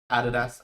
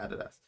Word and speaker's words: adidas: done something with adidas added us let's say added us because in australia you pronounce it adidas punks uh board apps